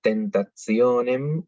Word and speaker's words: tentationem: Pero si la T está seguida de una I y de otra vocal, se pronuncia como una Z italiana, es decir, tentationem o grazia.